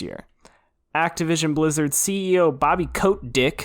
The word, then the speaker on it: Kotick: to tell us oh it's pronounced codec don't say coat dick no his name is Bobby Kotick but I was like say coat dick but his name's actually Bobby Kotick have you seen em